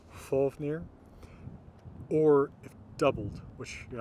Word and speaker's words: Fafnir: with either of those F will be pronounced F only at the beginning of words like in the name of the dragon Fafnir or doubled which you're